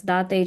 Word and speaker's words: Date: My last name is pronounced as Date just like you would say latte.